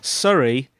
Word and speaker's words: Surrey: American listeners over there, Surrey is a county in the UK. It's not what we say when we're apologising. It's spelled Surrey. It's a beautiful county, isn't it?